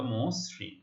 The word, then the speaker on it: মসৃণ: তাহলে মসৃণ। আমরা এখানে অনেকে ভুল করে মসৃণ উচ্চারণ করি, রিকার থাকলে দ্বিত্ব উচ্চারণ করি। আসলে রিকার যুক্ত ব্যঞ্জন ধ্বনির কোনো কি হবে না? দ্বিত্ব উচ্চারিত হবে না, ঠিক আছে?